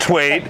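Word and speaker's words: Thwaits: So we got Ken Twaits and Brad Twaits. Is there any relation here? Brother from another mother. Brother from another mother, for sure. It's T-W-A-I-T and T-H-W-A-I-T-S. So it's the H is silent.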